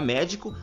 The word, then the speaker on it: médico: E por fim, na palavra médico, a sílaba que nós pronunciamos com mais intensidade é a sílaba mé, pois nós falamos médico.